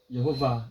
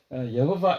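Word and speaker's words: יהוה: 쉐마 이스라엘 여호바 엘로헤이누 여호바 저는 여호바라고 이렇게 발음하는데 원래는 이게 이제 아도나이로 발음을 합니다.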